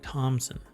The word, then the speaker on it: Thompson: Jess Thompson over at Thompson, no P. I don't know why I say it like that, and it sounds like I say P in there. Jess Thompson.